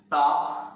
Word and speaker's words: to: The right pronunciation of this one, ta. T-O, generally we are pronouncing, it's to. But the right one, ta.